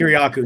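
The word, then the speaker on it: Kiriakou: But typically actually John Kieranow or I'm pronouncing his last name. Kuryaku.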